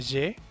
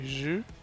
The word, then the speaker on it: je: Te recuerdo que en primera persona es un je, no es abierta la E, no se dice je, se dice je.